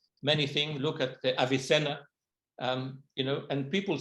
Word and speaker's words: Avicenna: or abnessina okay but in spanish the v is pronounced b and the b is pronounced v so when they write avi senna is actually pronounced abby cena okay okay but we